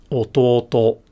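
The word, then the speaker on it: 弟: word this means that the pitch starts low goes up and then stays up until the last syllable of the word but then the particle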